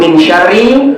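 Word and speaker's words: مِن شَرِّ: Makanya ketika membaca ayat ini, surah Al-Falaq ayat yang kedua, Qul a'udzu birabbil falaq min syarrin ma khalaq. Mereka bacanya gitu. Min syarrin pakai in. Padahal yang benar min syarri.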